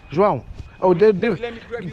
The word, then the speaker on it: João: But how do you actually pronounce it? João, yeah, we have. Portuguese is.